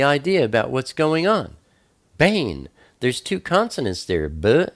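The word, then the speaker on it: בן: word for son is it looks like been ven in English but it's pronounced Bane and you'll see two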